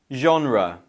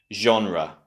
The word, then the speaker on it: genre: The correct option is A, genre. Genre. The reason why this word might be a little bit difficult to pronounce in English is because it originates from French.